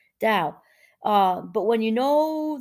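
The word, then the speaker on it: Tao: divide sorry to the dow that's hard for me to say cause it's a t b pronounce like a d dao uh but when you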